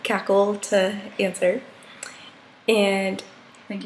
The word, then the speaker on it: KaKel: got on board with cackle well i think because it was wren who came up with it and she did it because it's supposed to be pronounced like c-a-c-k-l-e because we're always cackling which will probably there